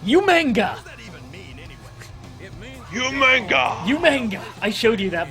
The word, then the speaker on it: Umaga: Umaga! Umaga! I showed you that Botchamania, didn't I? That's who. Probably. That's how William Regal would say Umaga. He couldn't pronounce it right. He'd say Umanga.